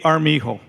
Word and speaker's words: Armijo: Armijo. So it's 2 A's. A-A-R-M-I-J-O. The J is pronounced like an H.